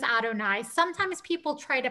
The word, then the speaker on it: Adonai: And now, very often when you have Yud He Vav He, those Hebrew letters that are spelled out, we pronounce them as Adonai.